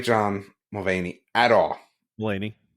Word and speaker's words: Mulaney: Mulaney. You keep calling him Mulvaney.